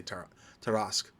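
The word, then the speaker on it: Tarrasque: I don't know exactly how do you you guys choose to pronounce it but I say ter teras um but anyway if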